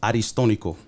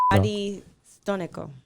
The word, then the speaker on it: Aristónico: So my first name is actually pronounced Aristónico. Okay. I'm not gonna say it back. Aristónico.